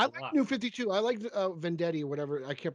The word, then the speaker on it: Venditti: I liked Vendetti or whatever. I can't pronounce his name. Robert Yeah, Venditti.